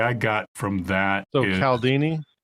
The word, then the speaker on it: Cialdini: And I think the takeaway I got from that is Cialdini, like Cialdini? It's pronounced Cialdini, Cialdini.